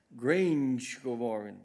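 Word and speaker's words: Grangegorman: Together with Commissioner Mairead McGuinness, they will also visit several tech projects designed by students at the Grange Gorman campus. I hope I pronounced that right. No, Grange Gorman, the campus of the Technological University Dublin.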